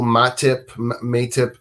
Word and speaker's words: Matip: Is it Joel Matip? Yeah, their Matip.